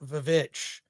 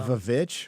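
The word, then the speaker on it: VVitch: uh the movie The Witch uh coming out or some people call it the vich so the vavich why yeah because it is spelled with two v's which is the old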